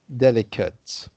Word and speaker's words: delicate: Delicate. And so it's pronounced delicate rather than delicate, you see?